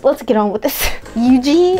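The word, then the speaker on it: Yujin: get on with this eugene is that how you say it you jin why'd i say yuji what am i saying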